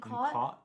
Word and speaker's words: caught: The one that's COT I pronounce with an A, and the one that's CAU I pronounce sounding like an O.